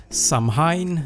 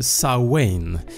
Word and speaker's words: Samhain: Kelter är en benämning på flera besläktade folkstammar av indoeuropeiskt ursprung, och Halloween härstammar från den antika keltiska festivalen som antingen uttalas Samhain eller Samhain, där människor tänder facklor och klär ut sig för att skrämma bort onda andar och spöken.